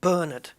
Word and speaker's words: Bernard: more in the states an example would be the name bernard we put we used the name bernard here so the the emphasis is on the first syllable bernard but in america it's